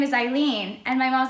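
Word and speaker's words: Hailin: from mexico and so in spanish the h is silent and um they spelled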